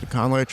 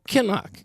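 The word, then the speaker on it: Kinloch: Conlich or anybody? Like, do you think... What? Not say that again. Conlich? Is that how you say his name? Or Conlich? Oh, Kenlock.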